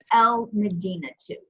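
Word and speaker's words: المدينة: on a word okay so here because Mimas is a moon letter it's pronounced al-madinah - l medina -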